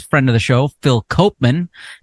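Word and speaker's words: Koopman: on them is friend of the show Phil Copan not pronounced cman even though that's how his name is spelled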